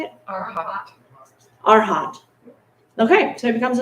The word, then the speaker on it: Arhat: Arhat.